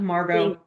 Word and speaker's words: Margot: your butchering your name the t gets pronounced or does not let me ask that first. Does not Marggo that's what I thought.